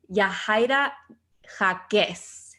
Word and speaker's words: Yahaira Jacquez: You guys know we always have mujerones on the podcast, and I wanted to introduce Yahaira Jacquez.